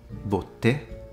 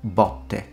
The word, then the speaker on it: botte: If you pronounce it with a closed O, botte, botte, you said paro. If you pronounce it with an open O, botte, botte, it means to get beaten.